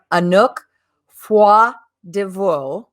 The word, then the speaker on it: Anouk Froidevaux: have the great pleasure to have with me anook foie divor i'm hoping i'm pronouncing that correctly ah she's a dance artist